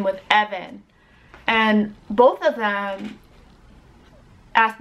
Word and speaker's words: Evan: the name or whatever so it's pronounced Evan it's not pronounced ebin its EB and it's short it's only two syllables my girl's name and